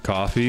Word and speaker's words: Ko-fi: I think it's meant to be pronounced coffee, but I am nothing if not petulant.